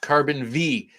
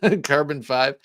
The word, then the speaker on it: Carbon V: Craig Vincent says Bob it's pronounced carbon V. Okay. Carbon V. Did I say five? Carbon five.